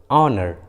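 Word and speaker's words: honour: ठीक है, वहीं कई इंग्लिश वर्ड्स के शुरू में जब एच होता है तो एच साइलेंट होता है, एच का उच्चारण नहीं करते। जैसे आवर, ऑनर, ऑनेस्ट, देखें तीनों इंग्लिश वर्ड्स में एच एकदम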